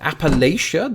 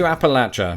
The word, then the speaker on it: Appalachia: and South Region so does that mean that Appalachia the usage of most Americans and let's face